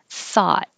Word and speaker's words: thought: so just airflow and the o-u-g-h now sounds like ah thought and i'm going to